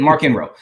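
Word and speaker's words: Marchion Ro: For pronouncing it the way it needs to be pronounced. Yeah, that's it, Markian Ro.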